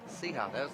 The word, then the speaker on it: Sija: Sija, that's it. You pronounced it correctly.